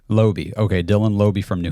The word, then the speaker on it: Laube: Laube. Laube.